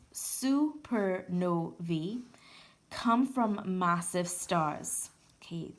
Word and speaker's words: supernovae: It goes on to state, most supernovae, that's the plural of supernova, and pronounced supernovae, come from massive stars.